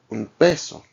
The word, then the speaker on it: un peso: b p and B the N is pronounced like an m so like un peso same as um the